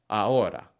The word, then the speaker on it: ahora: So when looking at these words, try to avoid pronouncing the H. Vehículo. Almohada. Ahora.